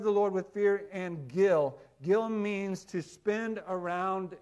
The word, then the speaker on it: gil: in the in your margin there the word spell it this way it's the original word g i l Gill everybody say I got some Gill I got